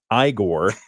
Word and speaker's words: Igor: Transylvania with the help of a hunchback sidekick igore which would be eigor normally but it's Igor and a leggy lab